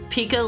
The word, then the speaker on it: pika: called the Pika um it is with a K it is it is Pika like you would spell it for Pikachu but yes yes it